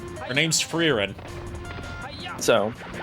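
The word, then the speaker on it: Frieren: Yeah, it's it's spelled like it's spelled like, you know, old English or it's spelled like old English or Dutch.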